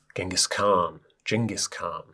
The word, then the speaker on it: Genghis Khan: So you could think about Genghis Khan, I think it's pronounced, and the Mongolian Empire.